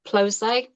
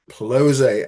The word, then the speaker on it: Ploszay: Yeah, Usually Ploszay. Ploszay.